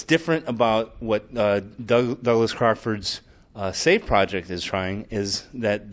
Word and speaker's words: SCIF: is doing that is called the safe project SCIF pronounced safe it's sponsored by PayPal